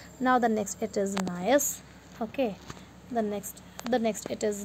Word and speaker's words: gneiss: Now the next it is gneiss. Okay, the next it is gneiss. Okay, it is pronunciate it as nice, G silent here.